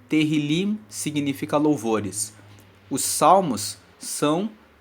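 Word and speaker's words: Tehilim: são um livro que no hebraico se chama terim teril se escreve te e h i l i m terril significa louvores os salmos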